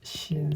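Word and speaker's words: sin: mg 사인 세타인데 이거는 mg 사인 세타라고 읽지 말고 신 세타, mg 신 세타. 빗면을 따라 내려오면 신나잖아요. 그러니까 신난다 해서 신 외우면 됩니다.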